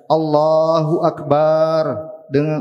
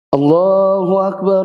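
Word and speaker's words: الله أكبر: menyalahi kaidah-kaidah bahasa Arab Seandainya dia mengucapkan Allahu Akbar dengan memanjangkan bar yang demikian itu tidak dapat dibenarkan yang jelas mengubah pengertian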